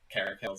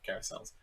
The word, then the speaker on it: caracal: out to me that it's carrick hills instead of carousels i'll just pretend that